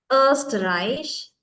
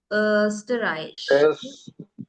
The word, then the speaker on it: Österreich: You can also pronounce. Deutschland. Deutschland. Österreich. Schweiz. Good. මේක දැක්කොත් එහෙම ඕ කියන්න බෑ. Österreich.